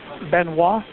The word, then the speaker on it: Benoit: Uh Benois. It's spelled B E N O I T.